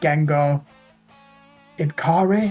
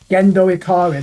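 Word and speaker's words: Gendo Ikari: Rock hopefully it'll be like that Scottish band Geno iari I can't pronounce their name what was that gendo iari that's it they do something similar go and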